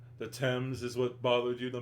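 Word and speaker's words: Thames: moon in person will remember that sorry I'll pronounce it the temps yes it it is pronounced the temp right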